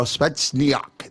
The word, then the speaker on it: Spetsnaz: There we go, Spetsnaz.